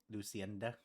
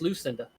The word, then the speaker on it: Lucinda: And what the Is there a laundromat for Luc Lucenda? Yes, there is. No, it's just Lucinda. Oh, Lucinda. Yes, the E is silent.